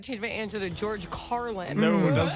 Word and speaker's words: Carlin: me up with that I was about to mispronounce it too car it's carel it's Carlin George Carlin I've been seen carinal for a